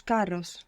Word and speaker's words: caro: expensive is Caro so it's like Caro but with one R Caro car so again it's a nice pet feel the difference between having the single R and the Double R just as we saw